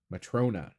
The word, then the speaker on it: Matrona: I can't ever say it correctly. Matron Matrona. Matrona. Matrona. There we go.